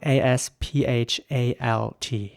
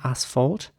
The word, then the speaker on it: asphalt: And the next word is spelled A-S-P-H-A-L-T. Now, in British English, this would be pronounced asphalt, with an R sound at the beginning, asphalt. And in American English, it would be asphalt, with an A sound, asphalt.